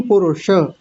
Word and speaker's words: पुरुष: जी जी बहुत सुंदर बस एक चीज का ध्यान रखेंगे पुरुष नहीं पुरुष ये जी पुरुष हां पर ये जो श है ये जीभ को थोड़ा सा ऊपर मोड़ के बोलते हैं हां जीभ को ऊपर